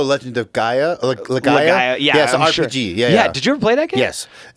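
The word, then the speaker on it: Legaia: but it's Legend of I always call The Legend of Lega but it's l-e-g-a-i-a oh Legend of gaiah yeah yeah did you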